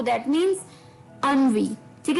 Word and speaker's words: ennui: बहुत ही अटपटा है, इसकी प्रोनाउंसिएशन थोड़ी सी हटके है। अनवी, अनवी। जी हाँ दोस्तों, ये वर्ड है अनवी, ENNUI, अनवी, ENNUI, अनवी, ENNUI, अनवी। जी हाँ, प्रोनाउंसिएशन इस वर्ड की अनवी, ENNUI, अनवी।